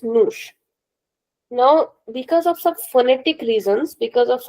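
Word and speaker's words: nos: Then we have no the conjugation is and the reflexive pronoun is no mush n o s but without the accent. So we call this moosh.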